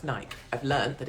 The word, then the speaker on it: Nike: moment i'm in nike i don't go in nike i thought it was always pronounced nike i've learned that it's called nike and i'm